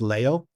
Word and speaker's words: Leo: It's pronounced Leo.